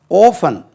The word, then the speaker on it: orphan: ஓஃபன் என்ன சார் அப்படின்னா, எழுதுகிறேன் பாருங்கள். ORPHAN ஓஃபன். நம்ம ஆர்ஃபன்னாலே சொல்லுவோம். ஓஃபன் இது ஓஃபன் என்று உச்சரிக்கணும். ஓஃபனேஜ்.